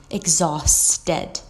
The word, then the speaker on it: exhausted: exhausted adjective very tired be careful of your pronunciation and make sure that you include the s sound exhausted to be fulfilled to